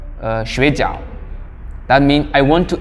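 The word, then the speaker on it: 水饺: different meanings, or just if you miss the right pronunciation, you are saying another things. For example, sleeping, 睡觉, that means sleeping. And they have dumpling called 水饺.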